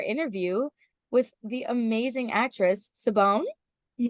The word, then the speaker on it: Siobhan: with the amazing actress Saban. Yeah, That's how you say it, right? Siobhan.